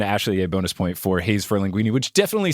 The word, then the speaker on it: Haze for Linguini: Haze for linguini and not haze spelled like the name Hayes.